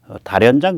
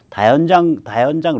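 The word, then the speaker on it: 다연장: 그리고 이게 단연장포에서 쏘니까 다련장 그러면 북한 발음이고요 다현장 로켓포에서 쏘니까 무지막지하게 퍼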